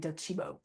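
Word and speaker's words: Docebo: I know it's not pronounced how it looks. It's like Italian, Docibo.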